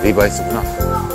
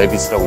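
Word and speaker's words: Levi's: 아, 리바이스구나. 여기 살면서 자꾸 이 알파벳 발음대로 있는 게 버리지 돼가지고 저도 모르게 레비스라고 읽었어요. 여기 3층은 주로 스포츠 브랜드들인가 같아요.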